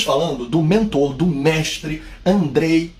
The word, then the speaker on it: Andrzej: do mentor do mestre Andrei vaida se escreve andreseje vagina né SJ com som de i então estamos falando de André e vaida polonês e